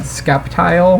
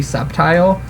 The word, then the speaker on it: Sceptile: like for whatever reason i always said skeptile when really his name should be sceptile just knowing how like s and c work together in the english language and i don't know